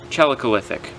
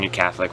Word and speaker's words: Chalcolithic: dress equipment from Okay, I'm gonna try and pronounce this word correctly. Chalcolithic. Yeah, I was pronouncing New Catholic for a little while.